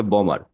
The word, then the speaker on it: bomb: এখানে যেমন হবে বম, মানে বি সাইলেন্ট থাকবে।